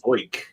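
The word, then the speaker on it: Zeuch: And how do you pronounce that random new guy's name? Zoik? TJ Zoik. Zoik. Sounds like something they would have said in Scooby-Doo.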